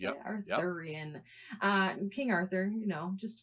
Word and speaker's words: Arthurian: enchanter or a wizard, and he's featured in Arthurian legend Is that how you say Yep. it? Yep. Arthurian.